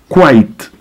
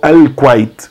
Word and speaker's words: Kuwait: Kuwait quase não muda. Falamos Kuwait. Alguns falam Al-Kuwait, com L na frente.